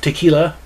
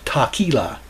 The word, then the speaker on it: tequila: do a rendition of tequila although as i recall when i listened to this the vocalist pronounced it taquila that's not how you pronounce it i'm a stickler for